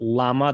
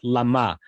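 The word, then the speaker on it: למה: Notice, by the way, that it's pointed not lama, the way it's pronounced in Hebrew, but lama.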